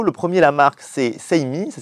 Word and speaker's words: Seimi: On a deux berceaux, le premier la marque c'est Seimi, ça s'écrit S-E-I-M-I.